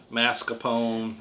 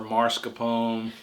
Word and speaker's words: mascarpone: been having this debate mascarpone good job or marscapone americans pronouncing mars whatever anyway so we've